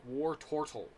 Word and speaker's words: Wartortle: anyway this is wartortle war turtle or tortell if you pronounce it correctly it's like war tortol but i'm used to pronouncing it war turtle or war war toward